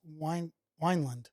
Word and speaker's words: Wineland: I always say Winland. It's Wineland. Is it? It's Wineland, I think.